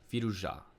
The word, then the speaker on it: Firouzja: Firouzja. The accent has to be placed on the last part of the word, unless those people were trolling me. But I think that's how you're supposed to pronounce it.